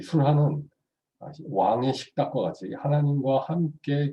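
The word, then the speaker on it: שֻׁלְחָן: 식탁은 히브리어로는 술한이라고 읽습니다. 술한. 이 술한은 왕의 식탁과 같이 하나님과 함께 교제하며 먹는 식탁을 의미합니다.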